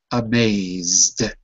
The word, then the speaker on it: amazed: at the word amazed it's a d it goes in the column that is pronounced d amazed Emanuel let me hear